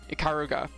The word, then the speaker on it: Ikaruga: Ikaruga.